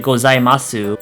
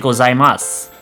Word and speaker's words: gozaimasu: And even though it is at the end, we don't pronounce it gozaimasu. We actually pronounce it gozaimasu.